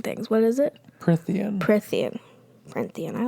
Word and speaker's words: Prythian: Prythian. There's no N. Oh. See? Mispronouncing things. What is it? Prythian.